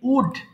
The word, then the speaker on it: would: এবং উচ্চারণটা খেয়াল করবেন এটাকে উল্ড হবে না এটা কিন্তু এল এর উচ্চারণ হবে না এটা হবে simply উড উড সো উড হবে উড হবে না আমি পড়ছি এরপর আমি